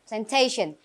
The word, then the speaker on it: plantation: Plantation. Remember the stress is on the second syllable.